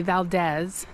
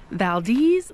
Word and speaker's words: Valdez: mispronounce the name of Valdez they say Valdez but I was just talking to a local she said the best way to remember it is Valdez like the breeze because you get a